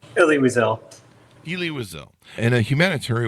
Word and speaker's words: Elie Wiesel: They received the Eli Wiesel Award. Do I have that right on the pronunciation? Elie Wiesel.